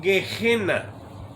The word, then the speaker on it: Gehenna: En inglés le dicen Gehenna porque la G la pronuncian no como en español, que la G seguida